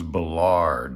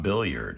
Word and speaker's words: Billard: it wrong but see no this is bellard not billiard even though it looks like a billiard table because that's the french part of canada and that's how they say it over there so this is actually